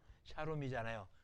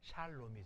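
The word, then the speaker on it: שלום: 근데 L 발음은 발음을 두 번 해야 돼요. 한 번은 받침을 주고 초성을 발음하고 샤롬이 아니라 샬롬이 된 거예요. 그게 R과 L의 차이예요. 레이시는 발음 한 번밖에 안 하는데 라멕은 발음을 두 번 해요. 맨 처음 시작하거나 끝날 때는 아니지만 중간에 있을 때는 앞에 부분에 받침을 주고 다시 초성으로 불러줘서 샤롬이 아니라 샬롬이라고 발음해요.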